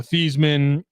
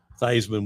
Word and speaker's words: Theismann: Doug Williams, Joe Theismann, Charlie Theismann before he went to Notre Dame, and then he tried to win the Heisman. Yeah, and they changed it to Theismann when he was a candidate for the Heisman.